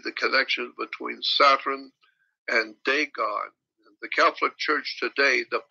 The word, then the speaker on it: Dagon: It's spelled D-A-G-O-N, Dagon.